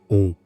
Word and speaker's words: Om: The word Om consists of three syllables, that is A, O, M.